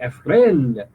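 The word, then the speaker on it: Efrén: said historian Efren Arroyo, the accent is on the other E, Efren Arroyo.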